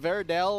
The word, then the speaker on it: Verde: It's Abyssal, Rojo, and Verde. So it's all good. Well, it's okay. It's okay. Don't worry about it. Verdell. That was an L.